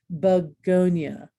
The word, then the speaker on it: begonia: And last but not least, but the syllable that comes before ia is accented, as in dyslexia, begonia.